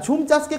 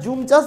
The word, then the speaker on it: ঝুম চাষ: না, উচ্চারণটা জুম চাষ, ঝুম চাষ দুটোই বলা যায়, ঠিক আছে।